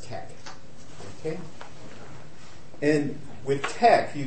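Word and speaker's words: TeX: is really the Greek letter Kai so it's pronounced Tech okay and with tech you could you could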